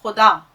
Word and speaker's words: खुदा: अगर आप कह रहे हैं खुदा, यही उसमें हर्फ आता है खे, मैंने लिखा ना ये खुदा, अगर आपका उच्चारण गलत हुआ और आपने उसको ख बोल दिया, खुदा कर दिया, तो मीनिंग बदल जाएंगे, मानी बदल जाएंगे बिल्कुल। तो खुदा, खे का उच्चारण हलक से।